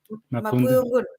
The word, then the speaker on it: Mapudungun: How do you pronounce it correctly? Mapudungun, yeah.